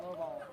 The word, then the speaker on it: Lovell: Is it Lovell or Lavelle? We'll say Lovell. Well, they pronounce it Lovell.